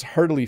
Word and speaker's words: heartily: problem mode eggs and when you pronounce heartily fast it sounds a bit like hardly it does doesn't it i pronounced it hardly so there is a little bit of the hurdly hardly i do just a little bit like heartily but you're right it sounds like hardly hardly hardly uh rod says